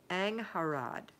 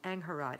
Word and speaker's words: Angharad: Okay, here's how you say her name. Angharad. Is that right? Angharad. It's from Wales, and you can call me Ang.